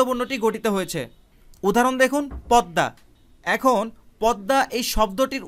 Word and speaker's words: পদ্মা: বর্ণটি গঠিত হয়েছে, কিন্তু উচ্চারণের সময় শুধুমাত্র দ উচ্চারিত হয়েছে, আর ময়ের পরিবর্তে আরেকটা দ উচ্চারিত হয়েছে।